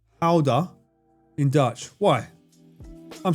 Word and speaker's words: Gouda: The correct pronunciation is Gouda.